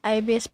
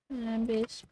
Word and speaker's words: ibis: You call it IBS Paint? Yeah. I call it Ibis Paint. I mean, that's how they say it.